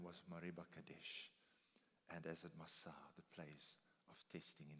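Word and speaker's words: Massah: for and as it Masa the place of testing in the wilderness. Perhaps it's pronounced Massa.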